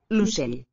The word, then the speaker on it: l'ocell: L'ocell. L'ocell. O is raised to U. L'ocell. L'ocell. In the tonic syllable. L'ocell. And it would be a palatal at the end.